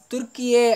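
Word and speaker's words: Türkiye: ஆனால் என்ன பண்ணியிருக்காங்கன்னா தற்பொழுது ஐநா சபையிலுமே துருக்கி அப்படின்னு சொல்லக்கூடியது என்ற பெயரானது துருக்கியே அப்படின்னு சொல்லி அழைக்கப்படும் அப்படிங்கிற மாதிரி நமக்கு சொல்லியிருக்கிறாங்க.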